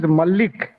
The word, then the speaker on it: Mallik: other day to Pankasha, what is the correct pronunciation? I only say Malaji. No, no, no. It is no. My title is Mallik.